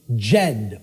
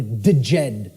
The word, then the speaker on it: Djed: See, this is an initiate inside what was known as the Jed or the Djed pillars, depending on how certain people pronounce it.